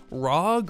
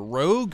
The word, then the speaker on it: ROG: Today, as you can see, we have the all-new ASUS ROG or Rogue or ROG, however you want to pronounce it.